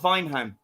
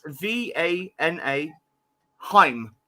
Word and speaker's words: Vanaheim: No, it's Vana Heim. So Vanaheim.